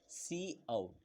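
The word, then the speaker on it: cout: देखिए good to know, जैसे कि आप जानते ही होंगे कि सी आउट is pronounce सी आउट, जैसे कि सी आउट user for आउटपुट एंड यूज द in section operator.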